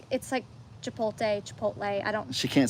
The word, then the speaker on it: Chipotle: You're reversing the T and the L.